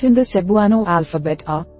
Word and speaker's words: Cebuano: For example, the word Cebuano has 4 syllables, Cebuano. Because native speakers often say their words more quickly, it may sound like Cbwah but remember, all vowels are pronounced separately.